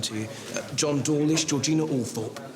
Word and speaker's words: Althorp: John Dawlish, Georgina Althorp. It's Althorp, ducky. We don't pronounce the Oh, well, maybe we do.